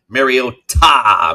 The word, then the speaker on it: Mariota: Also, helping everyone with their pronunciation of Mariota. Make sure we always emphasize ta.